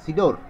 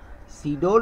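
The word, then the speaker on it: Sidr: মোর seriously attack Bangladesh এখানে সিআইডিআর আর capital লেটারে লেখা হচ্ছে এটার উচ্চারণটা হলো সিডোর সিডোর নামে একটা টর্নেডো হয়েছিল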